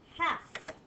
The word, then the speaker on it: half: But a lot of people forget the silent L that goes in there. We don't hear that L at all when we say half. And the silent letter is almost halfway through the word. Half.